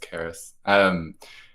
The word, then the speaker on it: Karis: This, and thanks to Karis Books, which I learned today it's pronounced Karis.